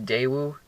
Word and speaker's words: Daewoo: cars this car was actually co built with Daewoo that's how you pronounced that so it's not like a pure